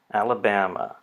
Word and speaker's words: Alabama: The first syllable has a little mark down below. This stress marker indicates secondary stress. So al. The next syllable is the vowel has been turned into a schwa. So it's ala, and so that's an unstressed syllable. And then the primary stress marker is before bam. So Alabama.